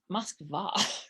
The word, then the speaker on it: Moskva: the russians who pronounce it kiev but but pronunciations like moscow it's moskva right right right yeah it's it's all it's